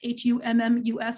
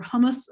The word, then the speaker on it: hummus: is always number one that's h-u-m-m-u-s or hummus when we're pronouncing it with americans but almost when you're with everybody else hummus is made of